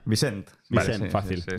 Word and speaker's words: Vicent: ¿Cómo se pronuncia? Vicent.